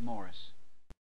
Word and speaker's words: Maurice: he could throw in it's spelled Maurice but he pronounces it pronounces it Morris